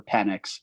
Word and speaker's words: Penix: I know people pronounce it the wrong way or the right way all the time. I prefer Penix.